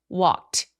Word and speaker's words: walked: 그러면 이 크라는 소리는 walk 성대가 울리지 않는 소리이기 때문에 성대가 울리지 않는 소리로 끝난 경우 통째로 ED를 t로 발음을 합니다. walked 이렇게요.